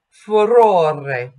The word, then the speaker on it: furore: And we've talked about the flipped R. Furore and cara. If you roll the R, you're going to make the syllable stressed. So you need to make sure that when you have an unstressed syllable that has an R in it, that it's only flipped.